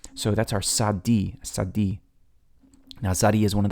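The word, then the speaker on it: Tsadi: But it's sadi. Now people get stuck on this pronunciation sometimes, but I say, hey, say the word pizza. Now that tsa at the end, that's a tzadi.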